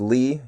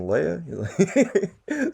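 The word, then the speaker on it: Lea: That's L E A, not Bradley, but, last name Lee, L E A. Um, and yes, it's pronounced Lee.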